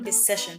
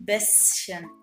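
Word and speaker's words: bisschen: بلاقي ناس تيجي تقوللي اين بالسيشن بالسيشن لا هي اين بسن وخلي الشين خفيفه يعني ايه خفيفه يعني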